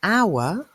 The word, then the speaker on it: hour: begins with h but an hour begins with h but the H is silent we don't say how're